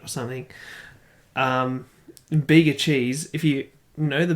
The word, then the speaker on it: Bega: Yeah, it's spelt BEGA, but the G, it's sort of stylized in a way that kind of looks like a Q, and so my dumbass looks at it and goes BEQA, and I'm like, okay, I guess that's Beaker.